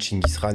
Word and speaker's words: Gengis Khan: Bonsoir YouTube, nouveau défi, le Gengis Khan Challenge, oui je prononce Gengis Khan, on s'en fout, Chinggis Khan, etc., etc.